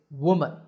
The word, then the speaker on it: woman: The first is woman. Woo, man, woman. And the second is we, men, women. Woman, women.